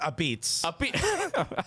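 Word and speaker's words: apizza: It's pronounced a beats.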